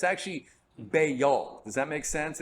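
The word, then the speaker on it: Baal: pronunciation it's it's actually bayol does that make sense it's like two syllables bail bail okay okay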